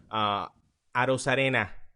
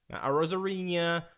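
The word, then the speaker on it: Arozarena: And also, if we're gonna get ticky-tacky, I hate how everybody's mispronouncing Arosarena. Rosarina, no Rosarina, or Rosarara. Is that a shot at me? Is that a shot at me? No, it's not. It's a shot at everybody. Just watch a broadcast and look how see how everybody pronounces his name. Arosarena.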